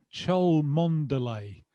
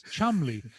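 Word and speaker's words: Cholmondeley: college with one and it was chel Monday no no no no no you don't say it like that it's Chumley how the do I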